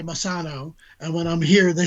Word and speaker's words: Messano: Thought it was Messano with a long A, but you've been saying it Messano. You can do it either way.